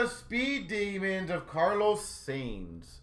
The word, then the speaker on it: Sainz: Is it Sainz or Sanz? So, Sainz number one, Sanz number two. Or is there a third option that I'm just not saying it correctly on either of them. Sainz Sainz Sainz Wait, sounds like signs. Oh, signs, okay.